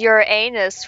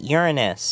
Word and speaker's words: Uranus: And this is your anus, right? You're supposed to pronounce it Uranus.